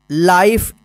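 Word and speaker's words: life: ई इसको क्या पढ़ेंगे लाइफ चाहे इसको लीफ मत पढ़ेगा या लाइफ मत पढ़िए ई का उच्चारण नहीं होगा ठीक लाइफ डब्लू आई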